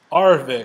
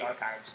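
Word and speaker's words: Arvixe: Arvix. Arvix. I want to say archives, but it's not.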